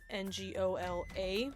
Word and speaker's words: Ngola: Um, one thing I want to just point out is that Angola, which is spelled N G O L A, which is the title for a monarch, is different from the African country Angola.